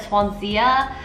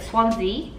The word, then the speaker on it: Swansea: we've got swansea university which i pronounced incorrectly last time i think i said swansea but swansea i i googled translated that